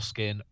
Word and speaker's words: Skin: to this Dawson door skin rhymes with foreskin skin and that has